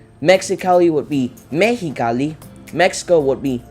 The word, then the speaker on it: Mexicali: the a of Mexico this is pronounced like an H in English Mexicali would be Mexicali Mexico would be Mexico